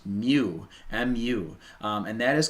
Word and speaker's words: mu: little uh little weird looking u and it's pronounced mu mu and that is called the coefficient of